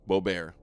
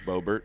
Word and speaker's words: Boebert: Lauren Boebert Bo- How do you say her name? Boebert? Beaubaire? Boebert. Boebert, okay.